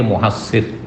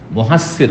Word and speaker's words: মহাসর: জায়গাটির নাম হচ্ছে ওয়াদি মহাসর শুদ্ধ উচ্চারণ হচ্ছে মহাসর অনেকে ভুল পড় মহাসার বলেছেন মহাদিয়ে মহা মহাস